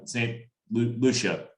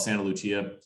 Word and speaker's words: Saint Lucia: uh down in um I'm gonna say it wrong St Lucia Saint Lucia St Lucia yeah I for some reason to tell like make it Italian Italian I always call it Santa Lucia it's not that's not what